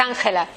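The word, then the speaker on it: Ángela: Parce que c'est la J, elle est très forte. Oui. C'est J, es Angela.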